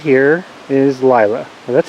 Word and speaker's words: Lyla: So this white ewe right here is Lyla. Well, that's how we pronounce her name, and she's genetically quite distinct from everything else we have in our flock.